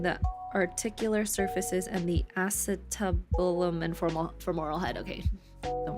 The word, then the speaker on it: acetabulum: Okay, that's how you say it. Acetabulum.